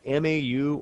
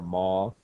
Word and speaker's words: MAU: And I have MAU or MAU or MAW, occasionally pronounced that way.